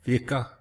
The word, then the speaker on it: Vici: They're uh providing shelter for Woodward evacuees in Vici, V.I.C.I. That's how you pronounce it.